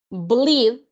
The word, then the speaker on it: bleed: automáticamente nosotros sabemos que si tenemos dos E se pronuncia una I, pero si tenemos solo una E, solo se va a pronunciar esa E. Entonces aquí sería bleed and bled.